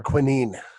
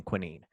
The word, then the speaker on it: quinine: quinine. You know, it's so funny. I was just looking at this. There's two ways of pronouncing quinine. Quinine is how the Americans pronounce it. Quinine is the British pronunciation.